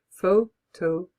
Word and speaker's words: photographer: the word photographer and I want to show them how the word should be pronounced I always use a telescopic pointer in my class so I fold the pointer right down and then I hold up my finger like this in a hook and I get the students to put the syllables onto my finger photographer and then I say the stress is here they know what to